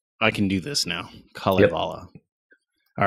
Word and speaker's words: Kalevala: So it's the Kalevala. So it's just each syllable or each two letters is its own syllable. Oh, I can do this now. Kalevala.